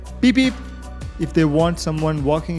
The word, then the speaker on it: Phi Phi: is people pushing them don't ha they say peep if they want someone walking in front to move it is funny but it works just fine here take a look peep one more important thing I learned after reaching